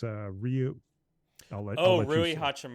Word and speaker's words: Rui: It's Ryu.